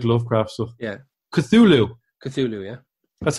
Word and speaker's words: Cthulhu: this because you like lovecraft so yeah cthulhu cthulhu yeah that's how you pronounce it from the album from the album the future is void from 2014.